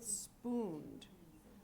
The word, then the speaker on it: spooned: Spooned. One syllable. Spooned.